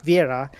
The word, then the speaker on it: Vieira: The E is silent, so it's Vera, but uh yeah, it's Viva Vera.